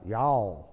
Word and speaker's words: y'all: Bien mal pronunciado, pero así se pronuncia aquí en Texas.